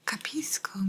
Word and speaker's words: capisco: it's good to know capisco means I understand that's why sometimes you might have heard like kapish mapishi and you'd say capisco I understand capisco capisco